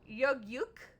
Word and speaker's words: Yug-Yuk: Yug rhymes with rug. Yuk rhymes with puck.